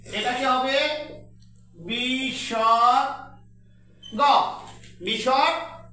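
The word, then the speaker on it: বিসর্গ: তারপরে এটাকে আমরা পড়েছি বিষজ্ঞ।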